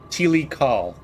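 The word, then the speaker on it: Tilikaal: and it's and I'll pronounce it but I'll spell it for you too um Tilly call t-i-l-i-k-a-a-l um but eventually your tricorder is able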